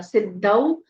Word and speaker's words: सिद्धौ: with with या विद्या सिद्धौ स में छोटी इ की मात्रा ह्रस्व रहेगा आधा द ध में औ की मात्रा सिद्धौ सर्वत्र स रफार का